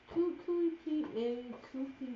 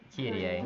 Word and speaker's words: Kyrie: You can give us This is how it pronounces it. Kupi-A. Nope. Kyrie.